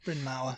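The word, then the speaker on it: Bryn Mawr: to Brin Mah College I know if I'm pronouncing that correctly bin ma yeah bin ma bin ma yeah Mar in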